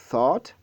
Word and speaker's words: thought: Dans le troisième mot également, thought, le GH est totalement ignoré.